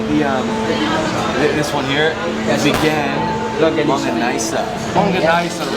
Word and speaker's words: Vigan: No, you're pronouncing that wrong. Vegan longanisa.